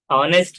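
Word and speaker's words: honest: और उसी तरह से अगर ऑनेस्ट है, तो जिसमें एस साइलेंट है लेकिन ओ की आवाज आ रही है, तो ओ आ रही है, तो वो एन लगता है उसके साथ।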